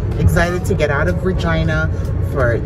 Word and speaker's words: Regina: I love my Regina. I love Regina because for me it's home. And anyway, yeah, so it rhymes with fun.